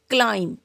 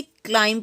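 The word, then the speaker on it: climb: क्लाइंब, इसे क्लाइंब पढ़ेंगे, क्लाइंब नहीं, क्लाइंब।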